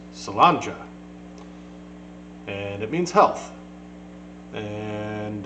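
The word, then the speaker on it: Sláinte: But that is, like I said earlier, it's Gaelic, and it's pronounced Salanja.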